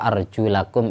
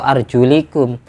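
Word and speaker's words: وَأَرْجُلَكُمْ: Jadi bacanya yang benar wa arjulakum ilal ka'bain. Kaki itu dibasuh. Fausilu arjulakum. Kalau orang Syiah itu malah baca Qur'annya wa arjulikum.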